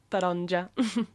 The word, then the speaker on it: taronja: Uh tar tar on taronja.